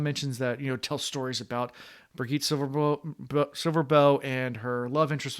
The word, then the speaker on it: Birgitte: How you pronounce it? Birgitte. Hard G. Birgitte.